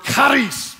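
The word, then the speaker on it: χάρις: grace is the word karis everybody say christ you got to say it like you're hacking a loogie it's trust me that's the way you say okay the word karis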